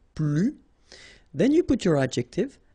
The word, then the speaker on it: plus: and in that case you don't pronounce the S, okay, plus.